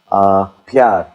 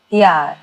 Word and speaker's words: प्यार: Pyar. Pyar. P-Y-A-A-R. Pyar.